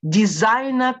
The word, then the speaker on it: designer: Там у нас в конце будет designer clothes. Чтобы вас это не пугало, дизайна читается, да, дизайнерский, дизайна. Designer clothes.